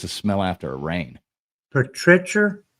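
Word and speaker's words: petrichor: smell after a rain patrier petrier how do you pronounce it friction Petra cor Petra cor okay come on you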